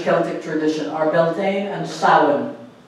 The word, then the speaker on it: Samhain: tradition are beltane and salmon you pronounce that sound okay irish scale like if anybody has ever studied it has a whole interesting set of phonetical rules so it's not samhain okay you may know